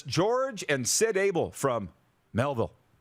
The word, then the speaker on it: Melville: Trevor Crosher says George and Sid Abel from Melville. Did I say that right? Melville. You nailed it.